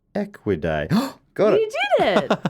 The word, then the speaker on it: Equidae: A zebroid is a cross between a zebra and any other member of the family Equidae, pronounced Equidae.